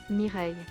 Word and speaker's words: Mireille: Mireille. That's...